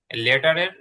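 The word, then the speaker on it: letter: এখানে যেই লেটারের মধ্যে যেই টিটা আছে সেই টিটা আপনার ট এর মতন উচ্চারণ হবে না ট এর মতন উচ্চারণ হবে না এটা হালকা ড আর আমাদের যে ডয় বিন্দু র আছে এই দুইটার মাঝখানে লেডারের ইটা লেডার লেডার একটু ড আর র দুই এর মাঝখানে হবে ক্যাপিটাল লেডার আরেকটা হচ্ছে স্মল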